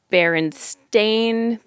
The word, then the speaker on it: Berenstain: and I saw the baron stain Bears the children's book with the Bears that you all probably remember bear and stain is spelled it's not even bare it's b-e-r-e-n-s-t-a-i-n which I would have